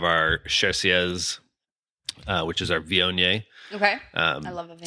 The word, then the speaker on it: Viognier: We were talking about how a lot of people have problems pronouncing Viognier, like you get the Voigner and all the Viogner.